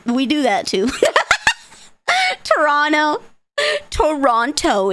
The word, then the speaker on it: Toronto: Toronto is Toronto. Just forget the T. Just forget it. Ah. I mean, it's a silent tea. Silent. T's are silent, so it flows better.